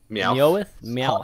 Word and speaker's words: Meowth: How do you pronounce that? Hot Meowth? Meowth.